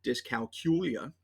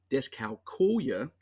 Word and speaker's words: dyscalculia: But as I went through the research, I came across multiple pronunciations: dyscalculia, dyscalculia, dyscalculia, and dyscalculia. So I highlighted this one because calculator, calculia, dyscalculia, that seemed like it would be appropriate.